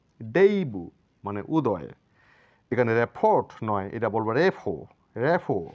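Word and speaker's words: rapport: নয় এটা বলবো ডেইবু ডেইবু মানে উদয় এখানে রেফোট নয় এটা বলবো রেফো রেফো মানে সম্পর্ক আরো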